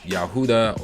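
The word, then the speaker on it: יהודה: say judah or jew in hebrew it would be pronounced yahudah or yahudim because the letter j it was not in the it's not in the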